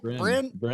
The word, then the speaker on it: Bryn: Bryn?